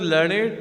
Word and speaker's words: learned: यहाँ पे learned जो है वो describing word है. Here learned is the describing word. We pronounce it as learned to rhyme with created, waited.